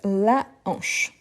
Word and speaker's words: hanche: aspiré au h moué et oui c'est un h aspiré donc la hanche ensuite on a herbivore